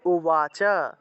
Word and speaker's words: উবাচ: বুঝতে পারবেন অর্জুনা উবাচা এই যে উবাচা আছে উচ্চারণ হবে উবাচা অর্জুনা উবাচা এম সততায়